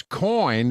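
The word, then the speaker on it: Coign: unusual spelling cig GN the g is silent but you got to put it in there to get to the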